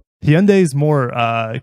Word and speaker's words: Hyundai: a new Hyundai Hyundai is more uh correct but Hyundai taught us over a decade ago in America that it's pronounced Hyundai like Sundays Hyundai Genesis North America